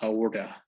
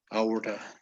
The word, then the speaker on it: aorta: Aortic. No. Auric. Yes, it's like we're not pronouncing the T, right? Uh, As if the T didn't exist. Aortic.